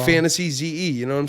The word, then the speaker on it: Fantasyze: f-a-n-t-a-s-y-e-z-e y-z-e yes like so it's like fantasy ze you know what i'm